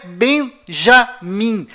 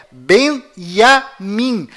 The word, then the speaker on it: Binyamin: é tchau além disso não é bem já mim a pronúncia correta é benjamin pois lembre-se até hoje não existe em hebraico nenhuma letra com som dj confira é benjamin metaniarro all-in